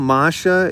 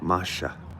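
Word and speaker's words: Маша: BB foil, Marsha is how you say Maria's name in Russian. If you were in Russia and you were with Maria, you would call her Marsha. It's like Marsha without the R, Marsha.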